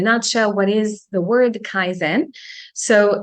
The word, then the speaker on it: Kaizen: what is the word Kaizen so it's a combination between two syllables as usual Kaizen which means to get a theory of positive Improvement just like the word zen you know Zen we got used to